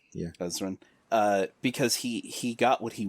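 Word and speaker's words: Ezran: have easily just had Ezra killed, but he didn't, because he's not a monster. Ezrin, he's like, there's an N at the end. Yeah, Ezrin.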